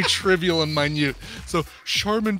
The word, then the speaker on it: Charmin: in mine you so Charmin toilet paper really it's pronounced chairman Oh chairman I see